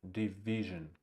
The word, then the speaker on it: division: It's the first syllable is unstressed. Division.